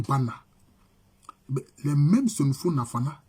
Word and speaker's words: Banda: Donc ça s'écrit avec Banda. Ça s'écrit Banda, mais ça se lit Bana.